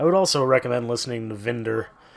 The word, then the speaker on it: Windir: I would also recommend listening to Vinder, which is spelled Winder, Windir.